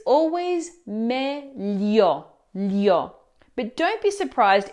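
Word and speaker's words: meglio: Now, the correct pronunciation is meio. But if you spend time in Rome, you'll often hear mayo instead. Technically, it's not standard Italian, but in practice, it's perfectly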